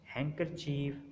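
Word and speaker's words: handkerchief: डी इज़ not pronounced in the following common words, हैंकरचीफ और Wednesday, यहाँ पर भी हमने डी को साइलेंट किया।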